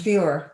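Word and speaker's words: Führer: the title of further is that you pronounce it fewer fewer yes yes i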